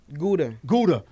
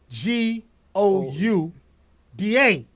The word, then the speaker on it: Gouda: Gudda Gudda oh yeah I said go up because it's spelt g o u da you thought all that was silent yeah I was like I thought it was silent but it's Gouda yeah Mike yeah tell